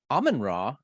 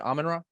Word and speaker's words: Amenra: with uh Colin from almond raw that's how I've always called it almond raw is that right is that how you pronounce it amanra well we we're not